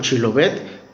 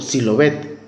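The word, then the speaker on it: Shibboleth: Esto se sabe por el relato de los efraimitas, que no podían articular el sonido consonántico she. Por eso pronunciaban Chilobet como Silobet.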